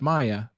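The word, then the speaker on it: Maja: British best friend's name from high school is pronounced Maya but spelled m Aja a Maya thank yeah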